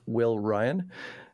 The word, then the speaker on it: Wi12yn: the twitch so my my music is all under it's pronounced will Ryan uh and if you